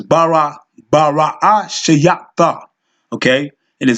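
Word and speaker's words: בראשית: So, within this first letter, this first word, Bara Shayata, which they pronounce Bereshit, but it's Bara Shayata, okay?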